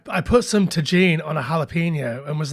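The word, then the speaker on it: Tajín: I realized last night, Sam, that I've been pronouncing Tajin incorrectly. How had you been pronouncing it? I've been pronouncing it Tajin. Right. I put some Tajin on a jalapeno and was like, wait a minute, these are both J's.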